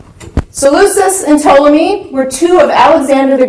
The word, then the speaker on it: Ptolemy: this and told me the P is silent so lose this and Ptolemy were two of Alexander